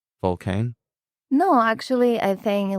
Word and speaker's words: Vulcain: Actually, in English, it's Vulcain, but in French, it's Vulcain, yeah. Vulcain. Sounds much better in French.